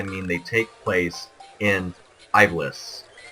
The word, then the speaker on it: Ivalice: they take place in Ivalice. Some people pronounce it Ivalice. I prefer Ivalice because I am an English-speaking national, and if I were to say that in my own language, it would be Ivalice.